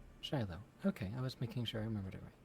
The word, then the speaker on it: Shiloh: Shiloh. Shiloh.